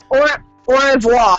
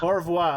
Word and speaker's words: au revoir: How's that pronounced? Au revoir. Au revoir.